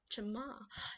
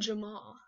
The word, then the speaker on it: Jamaa: be showing you the hidden spots in jamaa jamaa yes that's how you say it in jamaa i think so yeah i'll be giving away